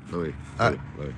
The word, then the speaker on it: Louisville: Louisville. The S is silent.